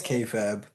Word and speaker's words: Kayfabe: It's Kay Fab. Let the ch explain to you how it's actually pronounced.